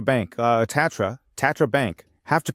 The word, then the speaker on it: Tatra Bank: Here, Tandra Bank, uh, Tatra, Tatra Bank, have to pronounce it correctly, part of the RBI group with several million customers.